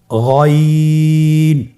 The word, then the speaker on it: غين: এখান থেকে উচ্চারণ করুন গইন। আবার বলুন গইন। আমরা অনেকে বলে থাকি গাইন, না, এটা ভুল উচ্চারণ। এভাবে উচ্চারণ করা যাবে না, যেহেতু হরফটি মোটা, এই জন্য মোটা করে উচ্চারণ করতে হবে গইন।